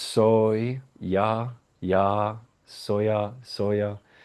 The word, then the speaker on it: soya: So if you want to use just soya s o y a soya it's pronounced soy ya ya soya soya pronounce